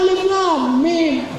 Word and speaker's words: Alif Lam Mim: Kok perasaan saya baca Quran gak pernah alamah? Mana yang kita baca? Ini Alif Lam Mim. Oh, bacanya Alif Lam Mim. Tapi nggak ada alifnya, nggak ada lamnya, mim nggak ada ya-nya, lam nggak ada alifnya, tulisannya kan alama. Itu gara-gara belajar baca Quran nggak pakai guru.